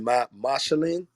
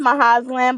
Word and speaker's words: Mahazlan: Mashalin. It's Mahazlan, but you can call me Maha.